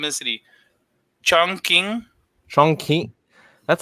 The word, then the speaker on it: Chongqing: Chongqing. That's how you're saying. Okay. Yeah, it pronounce Q's like K's.